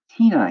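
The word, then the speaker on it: τίνα: Okay, Tina here, the accent's on the first syllable there.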